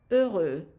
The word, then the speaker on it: heureux: Again, the S of garçon not pronounced, the T at the end of sont not pronounced unless you put a liaison here, and the X not pronounced.